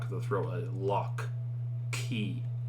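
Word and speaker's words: chi: is that f noise this is key key right it looks like an x but it is that's ch now it's not that cha noise it's not cha it is k right like lock and you might get a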